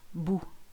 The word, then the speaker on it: bout: easy this one no boo even though there's a T on the end it's silent boo ruin al now all